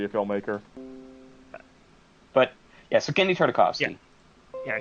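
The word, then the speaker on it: Genndy Tartakovsky: But, yeah, so Gendy Tartakovsky. Yeah, Darren Tartakovsky. Is that it? Did I say it right this time? Yes, Gendy Tartakovsky.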